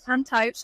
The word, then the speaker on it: Taibhse: English is The Ghost, but I'm going to butcher the pronunciation, so can you help me out, please? Taibhse.